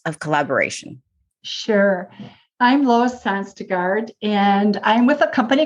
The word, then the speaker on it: Sonstegard: because on the line today i've got lois sanstegard am i pronouncing your last name correctly honey yes you